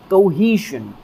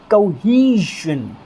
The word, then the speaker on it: cohesion: और इसका phonetic transcription क्या होता है, यानी कि इसका उच्चारण क्या होता है, कोहेशन, कोहेशन। ध्यान रखिएगा दोस्तों, ये वाली जो 3 के जैसी आपको ये जो साउंड नज़र आ रही है, ये श और ज से बनती है, आधा श और ज से।